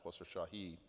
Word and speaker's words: Khosrowshahi: And these guards came onto the flight and said, is Dara Khosrowshahi, that's the Iranian pronunciation, on the flight?